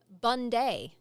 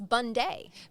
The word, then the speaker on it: Bunday: easily mistaken but his name is Thomas Bundday. Oh, instead of Bundy. Yeah. Instead of It's spelled B U N D A Y.